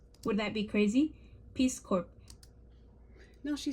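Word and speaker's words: Corps: that be crazy peace cor now she says remember the the p is silent let's see if we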